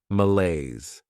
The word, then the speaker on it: malaise: This word has 2 syllables, and the stress is on that second syllable, malaise.